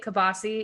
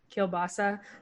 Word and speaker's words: kielbasa: we make uh well we say kabasi even though it's pronounced kielbasa our family says kabasi